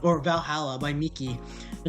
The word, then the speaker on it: VA-11 HALL-A: It's good thing it's actually just called Valhalla. The funny numbers and letters are just a code.